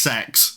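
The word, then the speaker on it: CeX: what I'm talking to it's actually pronounced sex no joke but I don't feel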